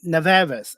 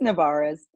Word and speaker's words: Nevarez: And her name is Esther uh Neves. Sorry, Ne. I I butchered her name so I apologize.